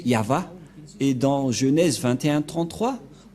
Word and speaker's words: Yahvah: Yod, He, Vav, He. C'est l'alphabet hébreu qui est prononcé Yahva.